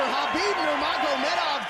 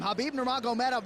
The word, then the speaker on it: Khabib Nurmagomedov: So the UFC and US debut for Khabib Nurmagomedov goes according to plan.